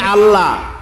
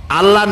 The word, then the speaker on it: আল্লাহ: করতেছেন আমি কি বলতেছি যদি বলি আল্লাহ তাহলে এটা অশুদ্ধ আল্লাহর নামটা হচ্ছে আল্লাহ বলতে গিয়ে মুখটা গোল হয়ে যাবে বলেন তো আল্লাহ মহব্বত